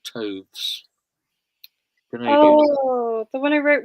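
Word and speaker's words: Toews: It's hard to know how to pronounce it. Her name, I think it's Taves or Toves.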